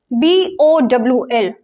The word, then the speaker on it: bowl: rice is correct so the correct pronunciation for b o w h is Bowl we will pronounce it as b-o-h-l Bowl so it is bowl